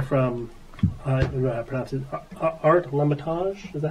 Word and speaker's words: Lamontagne: I have a letter from Art Lamontagne. Is that how you pronounce it? Lamontagne, yeah.